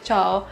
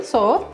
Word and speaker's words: Tso: General Chao, General Tso, General Soğa, bir sürü telaffuzu var. Ama en yakın telaffuz General Soğa.